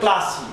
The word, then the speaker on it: Plassey: ম্যালেসান মন্তব্য করলেন পলাশি, PLASSEY, ইংরেজিতে উচ্চারণ করলে প্লাসি, প্লাসি দো, THOUGH, দো ডিসাইসিভ, কমা দাও, DCISIV, decisive, can never be considered, CONSIDERED, considered as a great battle।